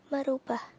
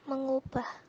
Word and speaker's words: mengubah: Yang pertama, merubah. Seharusnya ditulis dan diucapkan mengubah, karena asal katanya ubah bukan rubah.